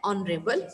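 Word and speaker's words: honorable: Honest man, N here, N ऑनरेबल मैन. So here ऑनरेबल, okay, ऑनरेबल, एच क्या है यहाँ पे, silent, ऑनरेबल, जो साउंड किसकी आ रही है, मेरी ऑन, तो हमारा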